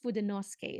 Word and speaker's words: Fudenosuke: Japanese friend that said that you can actually read it as Fudenosuke, but it's kind of like having a very excited tone when you say Fudenosuke. So it's Fudenosuke is the correct way of pronouncing it.